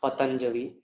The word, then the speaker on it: Patanjali: of patanjali by the way his name is pronounced patanjali it's not pronounced patanjali or panjali or patanjali